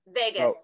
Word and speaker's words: vagus: the brain are connected through the vagus nerve am i correct vegas yeah okay i always have a hard time pronouncing that but vagus nerve okay yeah so